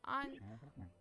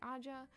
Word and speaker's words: Aja: Anya? No, that's not how you say it. Aja.